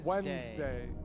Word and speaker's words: Wednesday: I challenged the school discouraged wet nest day and you were like no it's Wednesday yeah and she's like now it's just people don't know how to actually pronounce it so they changed the